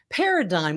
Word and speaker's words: Paradeye: format that'll make your staff excited to demonstrate paradigm which is pronounced as i just mentioned but spelled p